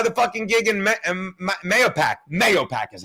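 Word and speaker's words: Mahopac: Mayopac is how you say it.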